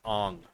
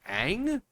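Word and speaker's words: Aang: Like, yeah, my name is Ong. It's like, you mean Ang?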